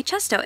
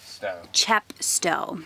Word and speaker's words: Chepstow: day bag and we're going to go enjoy chesto is it chest or am i saying it right yeah chepstow sorry and apparently that's a super cute little